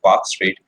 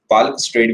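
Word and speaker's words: Palk Strait: इसे बोलते हैं पाक स्टेट। पालक स्टेट भी कुछ लोग इसे बोलते हैं। कोई खास फर्क नहीं पड़ेगा। लेकिन वैसे पाक स्टेट प्रोनाउंस करा जाता है।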